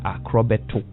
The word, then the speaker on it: Akrobeto: Because Nadia Buhari couldn't pronounce his name. Yeah. It's Akrobeto.